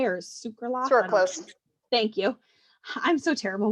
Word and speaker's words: sucralose: you say it's circle circle circle say or sucralose thank you i'm so terrible with pronouncing things this is where like the reality